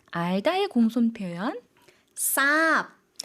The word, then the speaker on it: ทราบ: 오히려 쌍시옷 발음이 됩니다. 그래서 굉장히 독특한 예시거든요. 그래서 단어 살펴보도록 하겠습니다. 첫 번째 단어입니다. 모래, ทราย 알다의 공손 표현. ทราบ 두 가지 단어를 가지고 왔는데요.